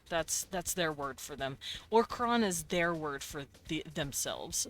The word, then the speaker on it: Orkran: Orkron is their word for themselves.